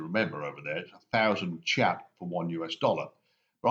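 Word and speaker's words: kyat: myanmar currency which is chat that's how it's pronounced but it's spelled k-y-a-t the three money-changing booths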